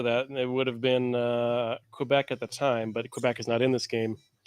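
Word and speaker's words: Québec: Did you just pronounce it Quebec? Quebec, sorry.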